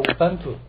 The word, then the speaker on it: Ubuntu: 当然就选择我们的 Ubuntu 了，它英文发音叫 Ubuntu 啊。